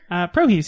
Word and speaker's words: Prohis: The first one we're going to review is called Prohis. Prohis. Prohis. Is that the right way to say it? Prohis, yeah.